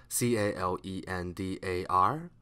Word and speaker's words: calendar: C-E-L-L-A-R C-E-S-S-A L-L-A-R L-E-R-L-E-R Seller P-I-L-L-A-R P-E-P L-E-R-L-E-R Pillar C-A-L-E-N-D-A-R K-A-K L-E-N L-E-N-L-E-N D-A-R D-E-R-D-E-R Calendar The E gives out a sound, swa sound, because it is at the unstressed syllable.